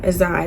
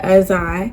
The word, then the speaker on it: Azai: Azai. That's my son's name, by the way. That's how you pronounce it. Azai.